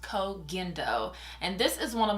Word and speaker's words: Koh Gen Do: I'm going to be going in with the COAG indo which I cannot believe that I've been saying that wrong I normally say Co jindo and I recently found out that it is pronounced COAG endo and this is one of my favorite absolute